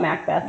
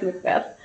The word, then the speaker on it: Macbeth: I want to call it Macbeth. Like McDonald's. Because that's how it's spelled. No, it's Macbeth.